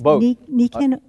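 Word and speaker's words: Nikken: It's Niken. How do you spell it?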